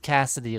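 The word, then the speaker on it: Kasity: Cassidy spelled K A S I T Y. Pronounced Cassidy like C A S S I D Y.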